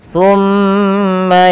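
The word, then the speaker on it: ثم: Kemudian pada lafal tumma yaquuluna hadza pada lafal tumma tahan suara mimnya sepanjang dua harakat.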